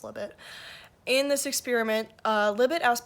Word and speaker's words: Libet: The study that set this debate into motion was a 1985 experiment by Benjamin Libet, or Libet. I think Libet is better, but I guess it's pronounced Libet.